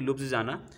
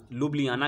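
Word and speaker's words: Ljubljana: बड़ा इंपॉर्टेंट रहता है, अक्सर प्रोनाउंसिएशन में दिक्कत होता है। तो इसका जो नाम है लुब्लियाना के नाम से जानते हैं, लेकिन जे लगा हुआ है तो ज़्यादा कंफ्यूज मत होइएगा।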